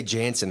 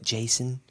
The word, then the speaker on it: Janson: forget the end yes I say Jansen they're like Jason as I spell it